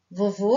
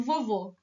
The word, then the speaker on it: vovô: a fivelinha da vovó vovô é a sílaba mais short é o acento circunflexo como se fosse o chapeuzinho da vovó e do vovô que estão entendendo a diferença